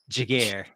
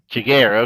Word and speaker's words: Giguere: Jigar. Jigar. Okay. Yeah, there you go. Add the flare. I would I would still say Giguare.